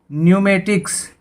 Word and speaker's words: pneumatics: उसके बाद न्यूमेटिक्स, PNEUMATICS, न्यूमेटिक्स। न्यूमेटिक्स होता है वायुशास्त्र। यहाँ एन से पहले पी साइलेंट है।